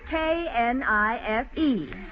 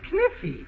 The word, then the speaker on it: knife: Class, I will spell the word K-N-I-F-E. That's Kniffy. No, the word is knife. K is the silent letter. K is always silent in front of N.